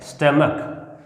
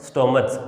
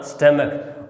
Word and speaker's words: stomach: इसका जहाँ लास्ट में CH है इसका उच्चारण होता है कै, स्टमक, नॉट स्टोमच। ये स्टोमच नहीं पढ़ता, अगर स्टोमच हम इसको पढ़ते हैं तो गलत पढ़ते हैं। इसका सही उच्चारण क्या होगा? स्टमक।